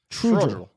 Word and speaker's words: Trudgill: How do you say his last name, Jay? Trudgill? Trudgill.